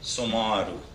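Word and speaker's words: Samaroo: dhanyawad Madame chair and I'm quite pleased that you pronounce my name correctly that is the correct Hindi pronunciation or someone who was born on Monday sumaru Bueno Ohio metro subway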